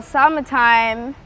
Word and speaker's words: Samatime: some fun facts about Samatime. Ooh, that's a good question. Well, Samatime is broken down to Sama because my close family calls me Sama, short for Samara, and it kind of rhymes with summertime.